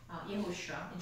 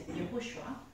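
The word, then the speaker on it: יהושע: So the person, the leader's name, Joshua, means Yehoshua. Joshua is an English pronunciation, so it's a little bit confusing sometimes, but his real name is Yehoshua, and that means Yahweh is salvation.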